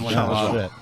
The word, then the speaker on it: Lajoie: No, it's John LaJoie. It's French.